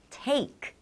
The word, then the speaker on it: take: 우리 A만 나오면 take이라고 읽겠죠. 근데 A랑 E가 함께 나오면 여기 A가 A 하고 소리 납니다. Take. 이는 소리 없으니까 take.